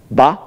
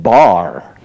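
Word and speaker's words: 場: When I invited him to the Harvard Business School, he purposely mispronounced the word ba, and he called it bar.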